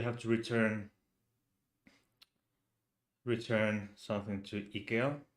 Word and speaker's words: IKEA: Um, we have to return something to IKEA or IKEA if if you choose to pronounce it that way.